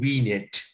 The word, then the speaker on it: vignette: event in your life in french words it's called says a french word actually and uh you pronounce it as we knit and the venus means